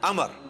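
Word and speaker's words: عمرو: लफ ही नहीं है लफ्ज है अमर लिखा होता है उमरू लेकिन उसका मतलब वाओ जो है वो साइलेंट होता है और वाव का मतलब यह है कि आपने इसे पेश की बजाय जबर से पढ़ना है उमर की बजाय पढ़ना है अमर तो हजरत अमर बिन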